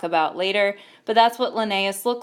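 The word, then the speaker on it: Linnaeus: here's a picture of lenus that's how you pronounce it lenus is famous for coming up up with the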